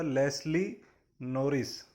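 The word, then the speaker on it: Leslie Norris: Pronunciation पे ध्यान दीजिएगा, लेस्ली नॉरिस।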